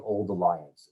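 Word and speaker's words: Auld Alliance: And that's, of course, because there's something called the Old Alliance, which is spelled A-U-L-D.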